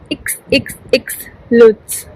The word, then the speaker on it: XXXLutz: uh like tell me so it will be pronounced as xxx lutz how's that looks so add these